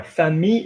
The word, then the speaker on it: famille: Now, famille is an irregular, same as the word daughter. Ma fille. You don't pronounce the L even though there is an E after the L.